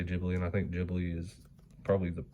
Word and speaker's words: Ghibli: it over there with a bunch of like Ghibli, however you, I don't know.